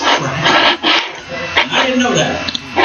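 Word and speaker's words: craic: It's CRALC. It's pronounced crack.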